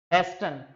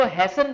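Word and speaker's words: hasten: पर हेस्टन, हेस्टन क्या है? इसको हैसन पढ़ते हैं बेसिकली, है ना। टी इसमें क्या रहता है? साइलेंट रहता है, हैसन।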